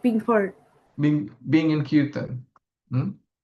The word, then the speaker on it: kirtan: I you can guess doing, I guess doing cryptum. doing I don't know how you pronounce it. Is it cryptum? kirtan.